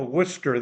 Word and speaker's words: Worcester: and we have a Worcester there and it's pronounced the same way Worcester Worcester however in Boston Austin it's wer wer like Wicked wer well guys uh again